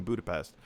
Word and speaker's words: Budapest: So, in case you didn't know, they're filming this movie in Budapest, or Budapest, as Black Widow would remind us is the pronunciation, revealing that this would be the future home of Mockingbird Lane.